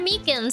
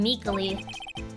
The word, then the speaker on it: Meeks: Actually, uh, actually, Officer Meeks at the detention center told us. Ah, the poor little doggy. Poor guy. I keep getting his name wrong and keep and keep calling him Meekly.